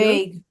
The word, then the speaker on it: vague: Vehicle. Oh, can anyone help with pronunciation? Everyone say if we know. Vague. Vague? Vague. Vague. Okay. Vague? Don't worry, the spelling's very crazy for that one.